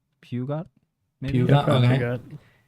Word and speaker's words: Peugeot: It's Peugeot, and I is believe it French?